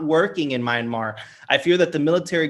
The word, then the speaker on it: Myanmar: I don't even know how to pronounce that. I apologize for anyone. Right the first time. Myanmar.